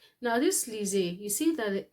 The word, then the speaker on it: lisez: Now this lisez, you see that the s is in between 2 vowels. Okay, so when your s in French is between 2 vowels, the s is pronounced as z, lisez.